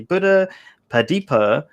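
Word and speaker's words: Buddhapadipa: you go um a buddhist monk from the buddha hadipia i probably said it wrong he was just teaching me how to say properly buddha padipa temple in wimbledon in london england i probably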